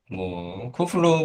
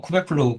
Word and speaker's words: Kubeflow: 잠깐 이 정의를 좀 보시면 쿠플로우 프로젝트는 이게 이제 제가 쿠플로우라고 읽는데 쿠베플로우, 쿠플로우 이거 읽는 거는 상관없을 것 같고요.